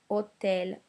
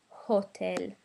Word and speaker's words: hotel: The other rule is don't pronounce the H. So this I have is o, not ho, and this word is hotel, not hotel.